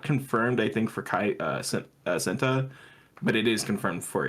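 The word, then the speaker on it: Cenat: and kaat possibly yeah is it satat or am I still saying it wrong is it senta yeah which which one's the right one because I I don't remember s it's uh senta senta okay Kat uh he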